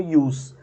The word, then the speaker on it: jus: Se fala, só escreve com j, mas fala como ius, né?